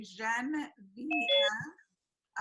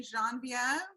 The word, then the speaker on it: Genevieve: that's that's fine honestly it's three syllables I usually tell people you can say Jen VM um some people say Jean viev and that's actually also correct and then you can if you've taken French in school there's like a another syllable that you can toss in there and it is just the French version of Genevie so I just you